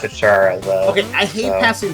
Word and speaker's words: Chara: Is it Chara or Chara? How do you say that? It's Chara, I thought. Oh, Chara, okay. That's not far from my name. I always thought it was Kara because character.